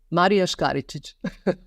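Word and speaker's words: Marija Škaričić: Marija Skaricic.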